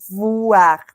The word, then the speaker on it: voir: Sí, la V es dentilabial, ¿no? Entonces los labios superiores tienen que tocar el labio inferior. Voir, voir. Dientes superiores, labio inferior.